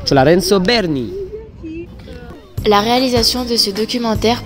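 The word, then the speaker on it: Lorenzo Bernini: Alors, petite erreur de prononciation, c'est la fontaine Lorenzo Belni. Apparemment, c'est Berni. Donc, la fontaine Lorenzo Berni.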